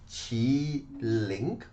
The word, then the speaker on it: Qiling: time you know the the fun thing is the proper spelling should be q i l i n Queen teach it in in in Chinese language is chi link and the proper way